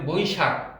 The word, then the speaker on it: বৈশাখ: স্বভাবতই দ্রুত উচ্চারণ করতে গেলে আমাদের বৈশাখ ক চলে আসে, কিন্তু এখানে আসলে বৈশাখ বানানে খ, খ হলো মহাপ্রাণ, খটাকে ধাক্কা দিয়ে বলতে হবে বৈশাখ।